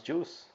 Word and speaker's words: JeOS: talking about it it's called just enough OS pronounce juice not many people know